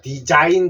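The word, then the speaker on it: design: 그러면 디자인 됩니다 디자인 디자인인데 요자가 소리 안 났어요 영어에서 자음에 소리 안 나는 걸 뭐라 그랬죠네 이런 것을 무음이라 그랬죠 영어에서는 소리 안 나는 자가 있습니다 그래서 무음에 요자가 들어가 있어요 그래서 디자인할 때 자가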